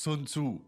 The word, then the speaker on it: 孙子: Sometimes pronounced Sun Tzu by English, but it's 老祖。